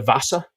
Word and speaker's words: Vasa: W-A-S-A, Vasa, the Vasa. And it starts with a V. V-A-S-S-A? No. Did I say that? No, W-A-S-A. Definitely don't know that story. Please continue. The Vasa.